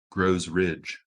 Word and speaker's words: Grows Ridge: map published in 1936 grows ridge yes and it's pronounced like g-r-o-w grow grows rich and i